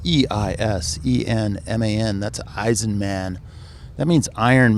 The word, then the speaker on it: Eisenman: And my last name is spelled E-I-S-E-N-M-A-N.